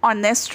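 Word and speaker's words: honest: यहाँ पे अब स्पेलिंग तो एच से स्टार्ट होती है, बट हम इसको प्रोनाउंसिएशन इसकी क्या होती है? ऑनेस्ट। इसको हम ऑनेस्ट बोलते हैं। एच हमारा साइलेंट होता है, साइलेंट होता है, इसलिए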